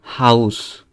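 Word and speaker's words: Haus: তারপরে আমরা যদি নিচে যাই, তাহলে এ ইউ থাকলে আও এর মতো উচ্চারণ হয়, ঠিক আছে? যেমন ইংরেজিতে আমরা হাউস বা কাউ এর মতো। যেমন এখানে এটা হাউস, এই যে আউ উচ্চারণটা আসতেছে মাঝখানে। তারপরে এটা আউটো, ইংরেজিতে যেটাকে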